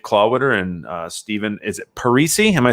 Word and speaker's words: Parisi: I've used and heard Parisi and Parisi. If you go with the Parisi, it rhymes with more things.